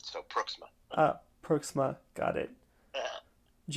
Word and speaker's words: Pruiksma: It's Pruiksma, like Brook, but with a P and an SMA at the end. So Pruiksma.